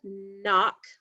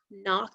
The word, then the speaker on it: knock: consonant flipbook we have the sound like in the word knock knock but it's spelt with a k and an n instead of just an n but if we look